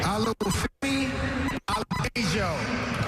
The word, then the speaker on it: Olufemi Oladejo: And with the 52nd pick in the 2025 NFL Draft, the Tennessee Titans select Olufemi Oladejo out of UCLA, edge rusher.